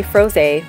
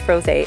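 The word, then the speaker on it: Frosé: red strawberry froze a which I'm assuming his pronounced froze a and not froze because it has the ex-ante goo over the e but this one is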